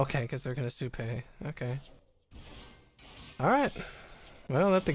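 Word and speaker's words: Supay: Didn't play the Sunpei, which is interesting. I mean, Supei. I always pronounce it Sunpei in my head. That's not its name.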